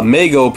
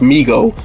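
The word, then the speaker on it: Mego: to overwhelming demand uh Meo oh it's pronounced Migo okay I'm glad I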